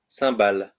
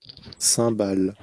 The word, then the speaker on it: cymbales: um that's interesting so here you have the pronunciation of sambal here sambal sambal vo and so it is a music instrument